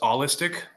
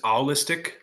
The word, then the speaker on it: allistic: non-autistic people, which is allistic, or I always Yes. pronounced it. I always pronounced it as owlistic, like autistic, owlistic, kind of like, Yes. but it's actually ALL.